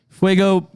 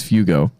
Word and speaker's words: Fugo: Fuego, it's a fun thing that we have where I call you Fuego even though your name's Fugo.